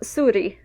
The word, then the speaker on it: zuri: In Standard Basque, Z is pronounced a lot like the English S.